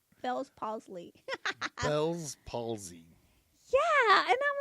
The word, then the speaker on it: Bell's palsy: i always say it wrong fellas paul's lead bell's palsy yeah and i'm like what is that and